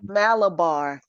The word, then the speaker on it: Malabar: It's Malabar. Okay. Malabar.